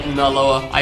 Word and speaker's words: Naloa: pronounce my name, because some people say it like more like Naloa. Like the NAL is more close together. Or Naloa is how I say it, so Naloa. Now, yeah, I don't really pronounce the A that much for some reason. I don't say like an at sound.